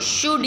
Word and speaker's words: should: यस, शुड, SHOULD, शुड, तो हम उसको शुल्ड नहीं कहते, शुड कहते हैं, राइट।